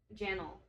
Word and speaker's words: Janel: When they sound it out, it's Janel.